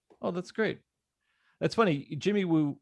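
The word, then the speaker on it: Jimmy Woo: that's great that's funny jimmy wu rhymes with scooby-doo which was the x-files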